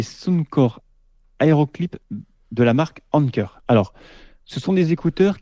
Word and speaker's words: Anker: Je ne sais pas si on l'a dit comme ça s'écrit A-N-K-E-R.